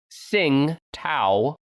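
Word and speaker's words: Tsingtao: your mouth little boy it's spelled t-s-i-n-g-t-a-o sing tau with a t at the front 2.8 global market share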